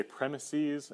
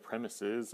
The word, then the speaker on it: premises: I do say premises instead of premises. I'm not sure why. I think both are correct pronunciations, but for some reason when I'm talking about math, I think premises sounds correct.